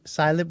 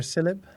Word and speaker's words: cylib: Cilib or Caleb? I'm sorry, Caramel. It's CIB.